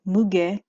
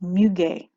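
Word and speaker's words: muguet: note here is delicate muge and I think no sorry I think it's pronounced mugay mugay which is actually French for uh lily of the valley and then it has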